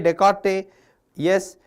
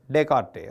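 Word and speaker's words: Descartes: order added pair format the idea is by Rene Decarte S but we should pronounce like teart dearte Okay.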